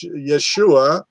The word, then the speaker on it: Yeshua: And the Christians, Yeshua, Yeshua HaMashiach, that's the proper way to say it.